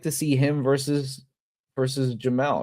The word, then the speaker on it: Jamel: Him versus Reber, or honestly, I'd like to see him versus Jamel, right?